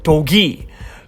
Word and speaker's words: Dogi: While this one is actually full Korean with the Korean for 2, so it's Dogi.